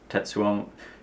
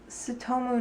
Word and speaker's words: Tsutomu: him into all the Tetsuomo Nihei? No. How do you pronounce it? It's Tsutomu Nihei, Brad. Okay. You don't pronounce the T.